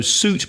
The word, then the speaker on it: suit: So suit, be careful of the pronunciation. It's S-U-I-T, but the pronunciation is U, so suit.